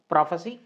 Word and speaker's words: prophecy: प्रोफेसी, that is भविष्यवाणी, है ना।